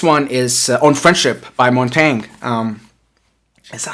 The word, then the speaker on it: Montaigne: And the next one is On Friendship by Montaigne. Is that how it's pronounced? Man, I gotta look it up. I always mess up the pronunciation for Montaigne. Let's see. Yeah, Montaigne. There you go. It's pronounced Montaigne.